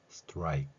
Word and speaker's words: strike: 근데 익 하고 끝나는 게 아니라 strike 마지막에 크라는 소리를 낸다는 것이죠.